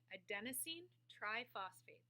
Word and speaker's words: adenosine triphosphate: another and that molecule is something called ATP adenosine triphosphate which is a nucleotide with three phosphate groups so ATP a Denine triphosphate that's how it's pronounced and here's the molecule here now the